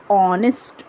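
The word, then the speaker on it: honest: then आपका ऑनेस्ट है एच ओ एन ई एस टी ऑनेस्ट में भी हिंदी में उच्चारण एच का साइलेंट रहता है आ का उच्चारण हो रहा है ऑनेस्ट ओ का उच्चारण हो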